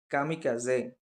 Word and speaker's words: kamikaze: Next K, காமிகாசே. ஸோ அதை pronounce பண்ணுறது பார்த்தீங்கன்னா காமுகாசே.